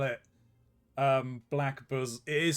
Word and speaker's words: Blackbosom: Sorry, Shug, you couldn't see it because of the crop, but he did spell it. Black bosom.